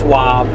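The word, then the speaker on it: Schwab: know who klouse is his last name is the same as a brokerage company starts with s and rhymes with wob yeah clous swob clown wow I can't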